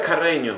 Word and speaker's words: Carreño: Quien pueda pronunciar mi apellido Carreño, que está cabrón aquí en Alemania. Nadie me puede decir Carreño. Herr Carreño. No, vamos a dejarlo en Carreño. Está difícil porque es doble R.